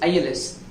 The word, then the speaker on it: ils: It pronounces same as in singular form, but we need to but spells different. That is ils, ils.